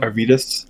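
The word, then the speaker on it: Arvydas: Arvidas, Arvidas.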